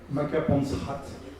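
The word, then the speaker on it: Makapansgat: on est dans la vallée de maapansgat par qu'on prononce makapansrat donc nous allons les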